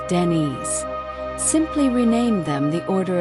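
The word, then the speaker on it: Dinis: King Dennis pronounced Denise simply renamed them the Order of Christ in 1319.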